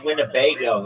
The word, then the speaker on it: Winnebago: Just the I the word Winnebago is like funny. It's wingo. It's four um syllables.